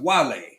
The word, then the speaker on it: Wale: uh what's up Wiley Wale not wall it's pronounced Wale not Wale oh Lord whatever eventually players